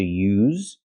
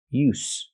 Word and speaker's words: use: sound like zebra to use that's the verb use and we have the noun use use there's no vibration it's just a s sound like stars and sleep s use so again use